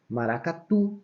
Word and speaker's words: maracatu: Então, exemplo, maracatu. Ó, o tu é a última sílaba e ela é forte.